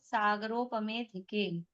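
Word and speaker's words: सागरोपमेऽधिके: आगे अब सौधर्म ईशानयोः सागरोपमेधिके। सौधर्म ईशानयोः, तो सौधर्म ईशानयोः सागरोपमे, अधिके है तो अ साइलेंट है, सागरोपमेधिके। अ एस बना हुआ है तो वो साइलेंट होता है, उसका उच्चारण नहीं करते।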